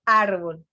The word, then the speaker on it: árbol: Por ejemplo, árbol. Lleva acento, ¿por qué? Porque no termina en NS vocal, sino termina en L.